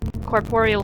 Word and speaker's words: corporeal: If you want a more professional sounding term, corporeal form. Okay. Yes. Her corporeal form, I say as a person who can pronounce things very well.